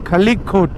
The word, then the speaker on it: খালিকোট: খালিকোট উচ্চারণটা হলো খালিকোট।